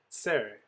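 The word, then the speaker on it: צֵרֵי: The next vowel we have is tsere. Tsere are those two dots that look like snake eyes under the letter bait. Tsere has the sound A, as in they, A.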